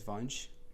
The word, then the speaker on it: Vansh: kind of cool my my parents pronounce it as vonch Bunch yeah but like